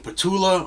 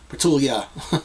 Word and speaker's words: Petula: Never know how to say her name. Petula or Petulia. You want to say yeah. Petulia. But Petula. Petula.